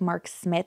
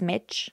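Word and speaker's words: Smich: dealer named Mark smitch I'm not pronouncing these names wrong it's not like Mark Smith it's smidge like with ch and Dylan is not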